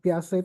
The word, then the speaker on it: Piaget: Kalau tulisannya Piaget. Oh, Jean Piaget ya, Jean Piaget. Nah. Bacanya Piaget.